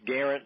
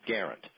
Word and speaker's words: Guerrant: My name is Garrett. And it's Garrett like guarantee without the T, but it's spelled differently. It's spelled Guerrant, pronounced guarantee without the T. Garrett.